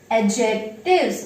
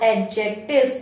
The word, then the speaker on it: adjective: This much we have learned in our previous videos, and today we are going to study about adjectives. Okay, not adjectives. Adjectives is wrong. Okay, adjective, D is silent.